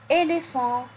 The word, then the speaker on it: éléphant: Par exemple, comme dans le mot un éléphant. Un éléphant. Ici, le PH se prononce F. F. Un éléphant.